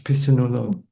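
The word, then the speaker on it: Phitsanulok: going to sit in Dhamma Vipassana Center in Pitsanulakot. I'm not sure if I pronounce it right. It's like 5 hours. Yes, maybe. Yes, yes. 5 hours to the north of Bangkok. Thailand, yeah, Bangkok. It's Pitsanulok.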